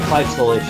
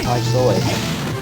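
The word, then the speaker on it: Claimh Solais: Women are native trying women but with certain weapons, such as Prima Slide, Clive Stolish is how I say it. I think there are multiple pronunciations. It's Irish.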